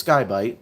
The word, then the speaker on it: Sky-Byte: It's Skybite.